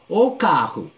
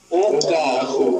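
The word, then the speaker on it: o carro: 자, 여러분들 저 까후 저 카 C A R R O 더블 R이죠. 그럴 때 무슨 현상이 생긴다 그랬죠? R이 앞에 가는 것처럼 흐 발음이 납니다. 그래서 오카후. 오카후.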